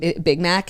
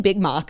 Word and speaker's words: Big Mac: sauce in every bite I have been mispronouncing Big Mac in um every single read that we've done for McDonald's somebody pointed that out I keep saying big mock like I don't know